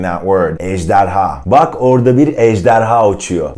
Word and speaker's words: ejderha: The first one would be ejderha. Try to say that. Ejderha. It's a 3-syllable word, and I probably like the J sound and also the ha at the end.